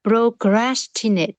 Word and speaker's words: procrastinate: Đúng rồi, và âm T ở cuối là procrastinate.